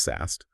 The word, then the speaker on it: SAST: Static application security testing, or SAST, pronounced SAST.